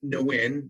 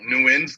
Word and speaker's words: Nguyen: i said yeah it's it's pronounced no win that that's correct right yeah there's a lot of different ways to say it new ends gonna be the easiest way to say it just so there's